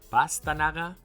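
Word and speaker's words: pastanaga: "Pas"-ta-na-ga, pas-"ta" -na-ga, pas-ta-"na" -ga or pas-ta-na-"ga"? Pas-ta-"na"-ga: "na" is the stressed syllable.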